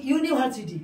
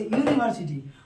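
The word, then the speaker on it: university: কিন্তু এর ক্ষেত্রে কি হয়, যেমন বলছি ইউনিভার্সিটি, ইউ এর উচ্চারণ কার মতো হচ্ছে? ইউ এর মতো হচ্ছে, ইউনিভার্সিটি।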